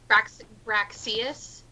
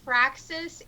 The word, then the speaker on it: Braxius: Just because I heard Fraxis and Braxis, and then I'm like, wait, oh my god, I think I've been saying it wrong in my head. It's a B. Braxis. Braxius. I-U-S.